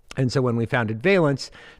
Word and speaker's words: Valence: oh first and foremost I realized I've been pronouncing it wrong the entire time so it's veilance not balance say 50 it's 5050 people pronoun